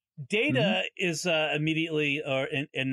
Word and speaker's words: Data: Before we get to the problems with Data in this episode, you mentioned the way his name is pronounced because. Yes. It gets pronounced, the word in real life gets pronounced both Data and Data.